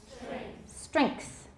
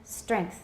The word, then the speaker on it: strength: send strength go ahead strength if you put the k in there your pronunciation will be right on the right on the nose okay so lend length send strength everyone good this one